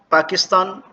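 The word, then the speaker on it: パキスタン: पाकिस्तान पाकिसुतान, पाकिस्तान के रहने वालों को पाकिसुतान जिन,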